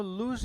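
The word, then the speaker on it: loose: लूज क्याय लूज तो हम इसको लूज बोलते हैं असल में तो यह लूज नहीं ये तो लूस है और इसका तो हम लॉस पता नहीं क्या क्या बोल देते हैं ठीक है ना तो क्या होगा इससे ल में बड़े की मात्रा लूज और ये होता है लूस और क्या लिखा देखिए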